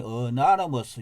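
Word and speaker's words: anonymous: 영어용인데 여기 보면은 영어로 어나너머스, 이게 발음이 어나너머스, 이게 익명이죠.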